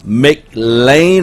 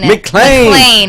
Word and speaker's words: McClain: Her name is Tressa McLean or McClain. McClain. I've only been saying it wrong for 2 weeks now.